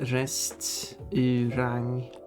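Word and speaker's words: restaurang: The Swedish word is and in Swedish is pronounced restang.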